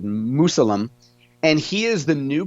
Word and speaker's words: Musalem: It looks like Mausoleum, but I'm guessing it's pronounced Musalem.